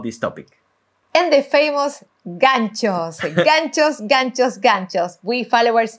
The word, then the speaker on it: ganchos: Make sure to pronounce ganchos, not nachos, like one of the judges in So You Think You Can Dance was pronouncing, not nachos, ganchos.